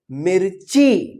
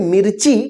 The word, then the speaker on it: मिर्ची: बड़ी ई की मात्रा, और इस मी के बाद आधा र का उच्चारण होता है, आधा र का जो है ना रेफ इस तरह से बन जाएगा, ठीक है ना।